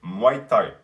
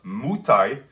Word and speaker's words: Muay Thai: it is to say muay thai it's not mutai it's not mai tai which is what neru says for some reason he says mei tai it's muay thai okay again reminds you